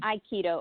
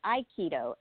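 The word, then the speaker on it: Aikido: started with, uh Hap Keto, Hap Keto and Iikido are spelled very similarly, and it's because they have the same roots. There's h a p k i d o. That's the that's Korean. But I also did Iikido.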